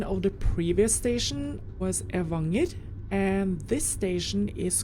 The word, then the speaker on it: Evanger: Oh yeah, and the pronunciation of the previous station was Evanger, and this station is called or pronounced Bolstadøyri.